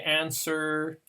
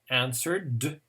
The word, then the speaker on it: answer: one s word yeah the w is silent we don't pronounce the w it's like swords so we just say answer insert that's right so here the r is the first column answered good so okay let's